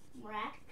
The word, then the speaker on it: Mrack: And then Michael Mrack. Sorry if I'm pronouncing your name wrong. Nope, that's how you say it.